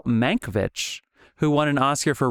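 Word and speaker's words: Mankiewicz: Manovich who won an Oscar for writing and directing this year. You bastard. Manowitz. That's how they pronounce his name. Don't you go with the fucking fatherland pronunciation.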